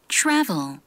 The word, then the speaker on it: travel: 소리에 있어요는 있는데는 없거든요 근데 요게 뭐 두 개가 만나면 그렇게 되냐면 TR 그래서 트르 트르 트래블 요렇게 하겠지만 실제 발음은 츄러스에 가깝습니다 추 travel에 더 가까워요 travel C네 센트럴시티 이렇게